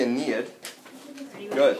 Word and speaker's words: Aeneid: Oh, this is called the Aeneid. Good. I like how you're taking notes here. So, Aeneid is spelled A-E.